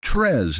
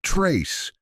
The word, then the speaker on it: tres: "You said it wrong. It's tres, not trace."